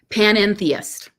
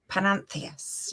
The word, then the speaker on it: panentheist: How do you say it again? Panentheist. Panentheist. Yeah. It is like a sneeze.